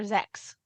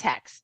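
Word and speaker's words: Xhex: Her series Black Dagger Brotherhood, she's got a character named Hex. It starts with an X. In the several of the audiobooks, Jim Frangione reads them, but in many of the books, they call her the wrong name. They call her Zex. And it drives me crazy every time. And I'm like, why didn't anyone mention that her name is Hex?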